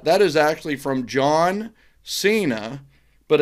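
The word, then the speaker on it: Seyna: you do that that is actually from john cena but it's not spelled like the john cena right the john cena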